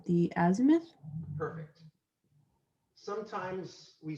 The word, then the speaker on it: azimuth: The altitude and the, I'm going to pronounce this wrong, the azimuth.